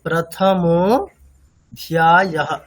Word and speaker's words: প্রথমোऽধ্যায়ঃ: মানে প্রথমোऽধ্যায়ঃ, ধয় জফলা আকার, তাহলে প্রথমোऽধ্যায়ঃ। আচ্ছা, আমার সাথে শুনে একবার বলুন, প্রথমোऽধ্যায়ঃ। প্রথম একটা দ আসছে তো স্যার? দ না, থ।